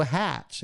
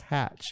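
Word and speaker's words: haitch: Oh, hatch. It's pronounced hatch. Oh, okay. That's how the Brits pronounce the letter H.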